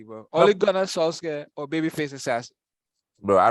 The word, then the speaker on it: Ole Gunnar Solskjaer: Ole Gunnar Solskjaer or Babyface Assassin.